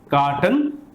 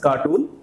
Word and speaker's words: carton: The second word today is carton. This is not cartoon. A few people pronounce it as cartoon.